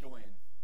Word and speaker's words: Gawain: Gawain? Sure. Thank you. Can you what he said. Is it, what is it? Gawain.